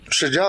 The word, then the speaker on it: شجاع: شین، جیم، الف اور عین، یہ تھا اس کا نام شجاع.